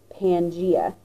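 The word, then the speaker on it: Pangaea: actually gave that a name he called that Pangia p a n g a e a sometimes you see it spelled p a n g EA either way it is pronounced Pangia and Pangia is a Greek word meaning all lands so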